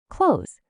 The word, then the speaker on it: clothes: the last few minutes close close do you hear close nope in American English when we're speaking quickly that th is really cut out completely it sounds exactly like close the door close the